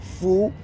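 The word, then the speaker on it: φυλή: It's pronounced phule, right?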